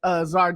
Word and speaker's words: Czar: Yeah, it's Czar.